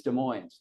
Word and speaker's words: Des Moines: The people in the city, they think it's Des Moines. They say as if there's a Z on the end because they say we're not Iowa.